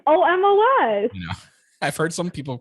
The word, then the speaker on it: Omos: this to see omar's debuts oh moss it's omos i've heard some people pronounce it all like almost and i'm like it's almost like what's this